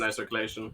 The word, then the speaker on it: Renai Circulation: Is that how it's pronounced? Renai circulation.